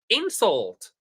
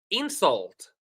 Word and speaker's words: insult: For example, insult. Insult. Verb to insult. So insult and insult. Insult. So I hope you can see the different variation between these two.